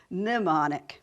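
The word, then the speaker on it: mnemonic: at her name that the m is not pronounced it's it you actually say pneumonic I have to stop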